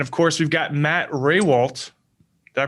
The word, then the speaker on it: Rehwoldt: And then, of course, we've got Matt Rehwoldt. Did I pronounce that right?